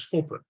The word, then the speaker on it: Foppe: Let me first say that Foppe is pronounced as Foppe. It's a Frisian Dutch name, so Frisian, indigenous of the Netherlands, and the E at